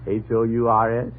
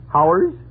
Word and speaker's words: hours: H-O-U-R-S? Oh, Howers? You pronounce it hours.